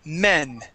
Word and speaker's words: men: And then men. Meh. Men would be with a short E sound.